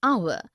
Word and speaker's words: hour: air an honest an hour because the words air honest and hour begin with a vowel sound as the initial consonant h is not pronounced.